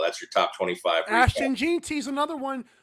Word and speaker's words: Jeanty: Ashton Jeanty's another one. Is that how you say it? Jeanty camp. It's like, I think it's Genty.